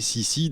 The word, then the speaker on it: Cixi: timeline Richard frem premcar alors la vraie prononciation en réalité serait plutôt mais on va garder la version francisée si si d'abord parce que ça